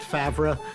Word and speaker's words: Favre: very excited to see Brett Fabri in a that's how you pronounce it I think